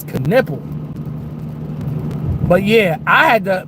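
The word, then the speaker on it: Knueppel: cuz I thought it was Canelo, but it's Canipple.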